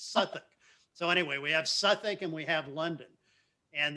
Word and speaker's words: Southwark: would call southwark southwark however if you pronounce it pronounce it the way the english do it's suffolk i can't tell you